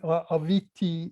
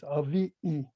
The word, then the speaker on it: aviʻi: It's not aviki in Samoan. I mean, with the T, aviti in Samoan, it's avi'i.